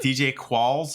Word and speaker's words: DJ Qualls: Is it DJ Qualls? Is that how you pronounce his name?